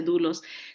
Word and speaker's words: doulos: l o s doulos pero se pronuncia dulos dulos quiere decir alguien que